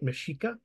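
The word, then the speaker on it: Mexica: is unique Aztec sounding and it's like like mishika like BJ was pronouncing um although some people use use an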